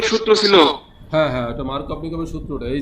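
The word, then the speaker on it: Markovnikov: আচ্ছা, এটা হলো মার্নিকপের বা মার্ক, ওটা আসলে উচ্চারণ মার্কভ-নিকভ, বুঝছো?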